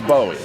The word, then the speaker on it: BOWI: to say it and then you correct my pronunciation. Don't tell me. I think it's Bowie.